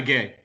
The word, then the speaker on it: Gueye: And it was very evident from his selection today with Marquinhos and I don't know how to pronounce it, Gueye. So that guy, just a Ghana gay.